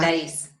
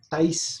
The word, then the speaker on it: Thais: Sí, me pregunta ahí, Thais, ¿se pronuncia Thais? El nombre, Sí, sí, ah, Thais. Thais, perfecto, Thais, gracias.